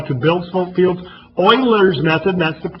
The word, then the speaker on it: Euler: to show you how to build some fields Euler's method that's the correct pronunciation we're not even going to discuss in